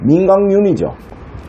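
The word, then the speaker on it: 민강륜: 이거 이름 뭐랄 때 민강윤 이렇게 부르는 사람은 있나요? 민강윤이죠. 이응 발음 나잖아요.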